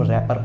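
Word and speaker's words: wrapper: और वर्ड है जैसे रैपर, लेकिन इसमें डब्लू साइलेंट है, तो उसको हम रैपर पढ़ते हैं, रैपर नहीं बोलेंगे इसे हम।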